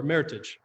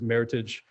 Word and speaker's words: Meritage: And it's a combination between 2 words, merit and heritage. So most people think the correct pronunciation is Meritage.